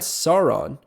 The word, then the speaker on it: Sauron: but you're gonna find Sauron I'm pretty sure that's how it's pronounced that's like the Lord of the Rings pronunciation uh but you're gonna find